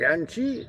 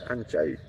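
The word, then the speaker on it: anh trai: So you can pronounce it like Anchi, which is not really correct. It's Anchai. Anchai. Chai is brother, and it's Anchi, Anchai.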